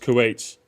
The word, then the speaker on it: Kuwait: It's pronounced Kuwait.